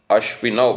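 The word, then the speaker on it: अश्विनौ: Now, Ashvinau, because most of us who speak the Hindi language, we pronounce O as O, not Au, but in Sanskrit it should be pronounced Au.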